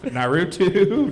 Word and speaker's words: Naruto: So you're a pilot from Naruto? Naruto? Is that what? Say that again. What's your Naruto?